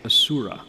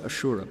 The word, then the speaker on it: asura: h a surah okay so asura ashura both i i learned it with the h so the s the sanskrit s will have an accent or not depending on how you pronounce it so ashuras in the